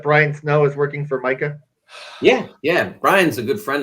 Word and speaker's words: Micah: And he's Micah's. Is it Micah or Mackay? I've heard different pronunciations. I think it's Mackay. Mackay Shrewsbury.